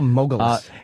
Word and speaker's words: Mogulus: How do you spell Mogulus? It's spelled like mogul when you're a mogul. M-O-G-U-L. And then us. Mogul us.